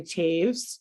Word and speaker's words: Taves: senior phys ed teacher his name was Jerry Taves um spelled like toes and I remember that